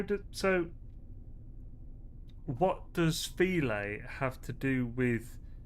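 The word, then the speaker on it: filé: File equals filet. What? That's stupid spelling to pronunciation. Really? I suppose it's not stupid. It's just French.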